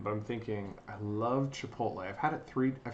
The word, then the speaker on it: Chipotle: spelled Chipotle wrong I've only just realized that chipotle I think it's c h i p o t l e CH I used to pronounce it Chipotle but